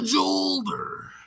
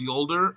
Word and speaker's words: Jolder: It's the Jolder. And I know it's pronounced Yolder, but all I can